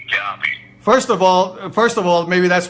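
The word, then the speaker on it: Gaube: It's pronounced Guabe. G-A-U-B as in boy. Guabe.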